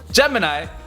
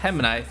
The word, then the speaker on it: Gemini: Also, it's Gemini, spelled like gelatin or jelly, not Gemini.